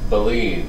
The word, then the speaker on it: baleen: And baleen, I looked up the pronunciation of the word, that's how you say it, according to the internet. Baleen.